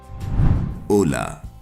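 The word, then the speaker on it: Hola: सफर कर सकता है दरअसल ओला शब्द स्पेनिश ओला से लिया गया है जिसमें एच साइलेंट होता है और जिसका अर्थ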